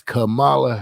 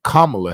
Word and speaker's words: Kamala: no longer is running for president it is Camala Harris or Kamala Harris right I don't want to sound like those other folk when they say her name so kamla Harris she's running for president and for me